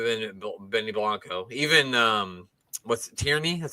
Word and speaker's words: Tierney: But yeah, other than Benny Blanco, even what's Tierney? That's how you say his name, right? Yeah. Tierney is back.